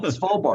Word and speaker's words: Svalbard: Yeah, Svalbard.